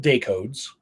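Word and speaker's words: DACODS: this is ongoing right in Colorado it's called day codes right that's how we pronounce it but it's it's an acronym DAC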